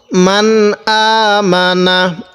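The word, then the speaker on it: مَنْ آمَنَ: মান আ মিম জবর মা নুন জবর না, মান আমানা কিভাবে পড়ব? মান আমানা, মিমের মধ্যে টান দিব না, হামজায়ের মধ্যে খারা জবরের কারণে এক আলিফ টান দিব।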